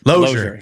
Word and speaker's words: Losier: Actually, yeah, I like the kind of the flair you put on it, and everybody says it different, but the actual pronunciation is actually Losier. So Losier.